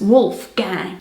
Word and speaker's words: Wolfgang: Pronounced with an American accent, it's Wolfgang.